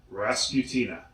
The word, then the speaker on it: Rasputina: Rasputina.